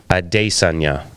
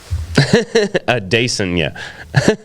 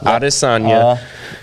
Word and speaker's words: Adesanya: and Ariel Helwani, and he asked him to pronounce his own name. Yeah, because the UFC is doing it again. Wow. Adesanya. That's how you say it. Adesanya. Not Adesanya.